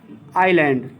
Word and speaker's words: island: ध्यान देना यह साइलेंट रहता है, क्योंकि कोई भी ग्रामर का रूल है, ISL से कोई शब्द शुरू रहता है तो उसमें यह साइलेंट रहता है, क्लियर। आइलैंड या आइल, क्लियर, ISLAND, यह साइलेंट है, आइलैंड पढ़ा जाता है माने टापू होता है, टापू या द्वीप।